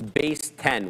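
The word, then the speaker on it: Baseten: By the way, guys, I think I was mispronouncing the company that Nvidia invested 150 million into. I think Kina man was telling me it's base 10, which actually does make sense.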